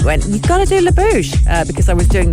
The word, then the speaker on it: La Bouche: let me start with lebouche which is french for the mouth and pronounced la bouche i think i think